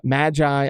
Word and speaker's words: Magi: a volume done uh I always said this wrong but uh Magi I think I said it right that time the Labyrinth of Magic